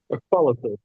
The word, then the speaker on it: Acrolysis: And coming up, we have a male musician from a band called Acrolysis. Is that how you say it? Acrolysis? Acrolysis.